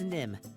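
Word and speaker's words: Nimh: Yeah, it's Nim. There's an H on the end, but don't worry if you spell it wrong.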